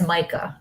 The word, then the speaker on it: Micah: I don't want to say it out here, but the energy in the land with that house, that's Micah. That's how you pronounce her name.